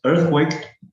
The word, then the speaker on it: earthquake: And this word going to be stressed on the first syllable, as you can see on the IPA transcription, earthquake.